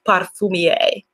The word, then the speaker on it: parfumier: They've been correcting me on my pronunciation. Parfumier.